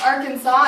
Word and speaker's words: Arkansas: LSU but we're right on top and it's pronounced Arkansas and I'm with the rotary club of Hot